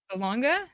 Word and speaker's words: Salonga: We have set sail and now we have an announcement from Leah Salonia. Salona. Salonga, I think. Salonga. See, I don't know how to pronounce.